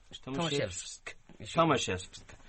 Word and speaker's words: Tomaszewski: Tomaszewski.